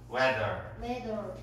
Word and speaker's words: weather: Weather.